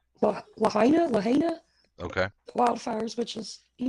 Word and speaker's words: Lahaina: Okay, so I hope I pronounce it right. I believe it's Lahaina. Lahaina.